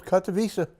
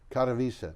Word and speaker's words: Katowice: I don't know how to pronounce it. That's close, Katowice. Katowice, Yep.